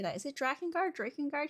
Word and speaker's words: Drakengard: say that is it Dragon guard Drake and guard he says Drake and guard because it's Drake right like a dragon um we're watching the